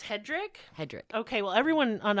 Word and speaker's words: Hedrick: um I can't say his name it's like Hedrick I think it's Hedrick it's Hedrick okay oh